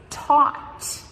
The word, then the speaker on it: taught: Teach becomes taught. Completely different spelling. T-A-U-G-H-T. And the GH are completely silent. We do not pronounce them at all.